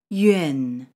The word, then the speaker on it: yuan: Yuan. This sound is created by combining the sounds yue plus n.